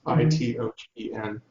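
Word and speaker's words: Xitogen: He was a technology lead in a company called Cytogen. It's spelled with an X, Itogen.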